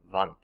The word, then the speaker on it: Wundt: Now, the first individual you need to make sure you know for this class is Wilhelm Wundt. Okay? The reason I say it like that is because he is German.